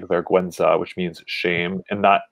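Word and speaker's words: vergüenza: words when you see g-u-e you say gay but in this case we say verguenza so that's another way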